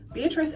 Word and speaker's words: Beatrice: Beatrice ends in the S sound, but it's like a C E at the end.